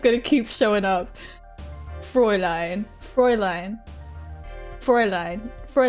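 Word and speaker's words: Fräulein: Now the German pronunciation is as fine. Frey line. So this gu is just going to keep showing up. Frey line.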